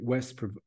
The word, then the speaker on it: West: Berlin West the magic West pronounced V like o ve in German spoken of with Awe